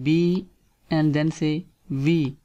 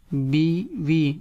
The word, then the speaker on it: بیوی: وائف بیوی، بیوی، بیوی، like in here first say b and then say v, b v mean wife.